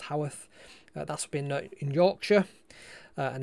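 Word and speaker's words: Haworth: ever been to howeth it looks like it's pronounced Hayworth but I'm pretty sure it's pronounced Howarth that's been in Yorkshire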